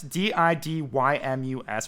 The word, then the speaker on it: Didymus: Sir Didymus, Didymus, which I pronounced right on the first try, which Yeah, is you good for me.